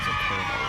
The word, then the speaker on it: colonel: It looks like it should be pronounced colonel but no kernel like corn but it's not spelled kernel that way.